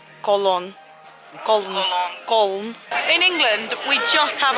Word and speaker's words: Köln: I'd say no because the people from Cologne don't pronounce the city Cologne they pronounce it : Köln In England we just